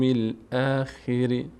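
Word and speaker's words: الآخر: خی نشه خی نشه چون بعد از کسری یا نیومده که خی بشه اخری بعضیا میگن خری خی خیش میکنه نه و باليوم الاخر و یوم یوم یوم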